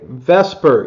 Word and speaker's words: VSEPR: okay Vesper even though it's spelled VSEPR it's pronounced Vesper and now we're going